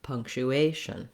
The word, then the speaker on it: punctuation: of the word uh there is secondary stress here on this punk syllable but the main stress in words that have a t i o n the asian suffix is always on that a syllable so it's short short long short punctuation asian um looking at